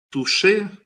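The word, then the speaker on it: touché: «Туше» – это французское прочтение слова «тач». То есть бросок до касания. Поняли? Touch читается вот как француз «туше».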